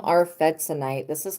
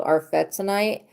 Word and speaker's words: arfvedsonite: Getting some arfetzonite. This crystal is called arfetzonite, and it protects from psychic vampirism.